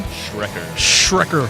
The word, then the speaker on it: Schrecker: Schrecker.